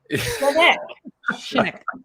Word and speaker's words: Shinnock: I remember it's the front of the leg, and then when you eat something you don't like, ick. Shinnock.